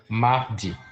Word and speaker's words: mardi: Tuesday in French is spelled Mard. Mardi.